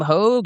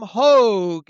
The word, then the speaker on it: Hoge: Yeah, let's get to Adam Hogue. You can follow him on Twitter at Adam Hogue, that's spelled Hoge, NFL analyst for All